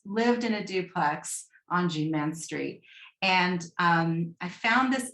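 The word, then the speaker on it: Jeanne-Mance: And we're going to laugh because I pronounce Jean Mans like the Greeners. I know it's Jean Mans.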